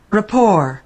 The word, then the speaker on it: rapport: at Longman for Rapport it says with the stress on the second syllable P Rapport Rapport friendly agreement friendly understanding